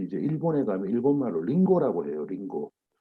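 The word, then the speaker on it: りんご: 나무 목변에 그 금자 써서 임금이라고 했는데 이것이 일본으로 가가지고 일본식 발음으로 링고라고 부르는 겁니다.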